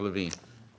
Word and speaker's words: Levine: Levine. It's one syllable longer than Smith.